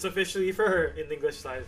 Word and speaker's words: Fir: Rather focus all my energy into getting Fur. I would like to get Fur at +1. So I'm kind of bothered with how Fur's name is pronounced, because in Japanese it's pronounced Fear, which is how I